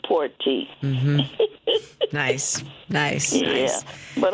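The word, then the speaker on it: Porte: It's P O R T E. Okay. And it's Cecil Porty.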